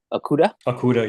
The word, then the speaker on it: Okudah: How you say it? Okudah? Okudah, yep.